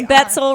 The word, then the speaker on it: Betsill: We've got Alex Betsill, rhymes with pretzel, down there at the end.